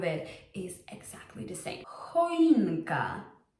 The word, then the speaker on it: choinka: Choinka. Choinka. Choinka. It's pronounced just like a normal h.